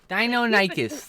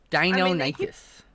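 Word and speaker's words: Deinonychus: most of them anymore dinonicus that's all i remember that one's pronounced dino nicus even though i never it up i always it up dino nicest they do keep discovering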